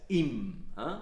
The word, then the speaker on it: im: If you have in dem, which is almost always pronounced as im.